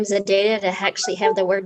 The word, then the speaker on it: ZEDEDA: And I think it's actually ZEDEDA, like rhyming with my Run DMC My ZEDEDA song. my Adidas.